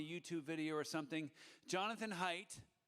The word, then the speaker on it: Haidt: you Jim uh for for uh not mispronouncing my name it's off it's always uh you know embarrassing like and here's my good friend Jonathan hate and what am I